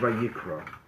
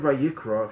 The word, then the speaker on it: Vayikra: Now, there's a fascinating thing about the word Vayikra. The word Vayikra, if you look in the Torah, it is spelled with an aleph at the end. It's a silent letter, but it has to